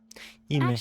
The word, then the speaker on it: Imish: Imish Actually, is how you say that.